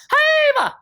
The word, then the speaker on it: Jiva: Chakabati, Phoenix Dragon, Nirvana, Haeva! I know it's pronounced Jiva, I still prefer Haeva.